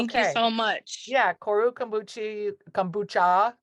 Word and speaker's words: kombucha: Yeah, Koru kombucha, not Here you go. kombuchi.